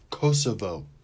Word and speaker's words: Kosovo: look it up real quick hold up okay pronunciation kosovo kosovo all right kosovo two golds and two